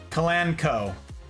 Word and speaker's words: Kalanchoe: It's pronounced Kalanchoe.